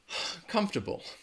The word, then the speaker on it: comfortable: comfortable comfortable alright I I think the reason why this is challenging is because again it kind of gets short and sometimes you might not even hear that are comfortable are you very are you comfortable right now how's this seat is this seat comfortable I think you do when I say it you do feel I hear a little bit of that are sound comfortable comfortable but